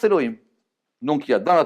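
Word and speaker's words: אלהים: les coûts des elohim et celui-là on le prononce elohim donc il ya dans la torah sais pas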